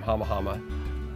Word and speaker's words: Hama Hama: There's two camps referencing to the name Hama Hama. We pronounce it Hama Hama, we spell it with